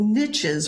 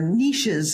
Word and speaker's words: niches: these stem cells live they're called niches or niches if you're uh pronouncing like french these are little areas